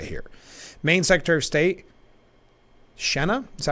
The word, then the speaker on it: Shenna: a little bit here main secretary of state shenna is that how you pronounce it Sheena it's got be Sheena Bellows I only I've only seen it r